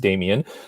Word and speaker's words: Demian: It is an odd spelling, DemianRoss. It's still pronounced Demian. It's a Herman Hesse book. The character was Demian.